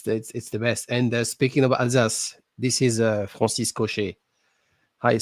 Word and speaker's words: Alsace: When I was in Am I right in Paris, saying it's the Alsace? Is that the right way to say it? Alsace Alsace, region? yeah, Alsace, yeah, yeah.